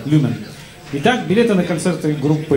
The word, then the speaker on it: Люмен: Вот я вечно путаю ударение. Люмен или Люмен? Люмен, да? Первое. Люмен.